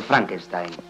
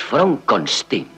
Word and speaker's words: Frankenstein: yo tengo una dror Frankenstein es Fron conin Cómo ha dicho usted mi nombre se pronuncia Fron conin no es usted vale